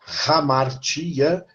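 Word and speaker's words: ἁμαρτία: hamartiologia porque em grego a palavra hamartia esse H pronuncia como se fosse um R é um h aspirado ramara é a palavra pecado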